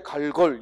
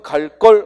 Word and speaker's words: 갈걸: 그렇죠 쓸 때는 갈걸 이것도 읽을 때 갈걸 이렇게 읽으면 안돼 진즉 집에 갈 걸 이루며 안되고 발음은 갈 껄 하고 발음 하되 쓸 때 갈걸 또 내일 다시 올게